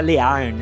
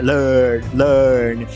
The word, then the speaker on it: learn: Orelha, aprender não é learn, é learn.